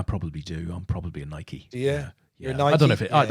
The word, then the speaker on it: Nike: are you are you are you a nike or a nike do you do did you do the e on the end i probably do i'm probably a nike yeah yeah i don't